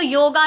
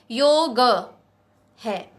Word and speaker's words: योग: हम तो योगा ना कहें, क्योंकि योगा नहीं है, योग है। योग नहीं है, योग नहीं है, योगा नहीं है, योग है। तो योग कहें सही।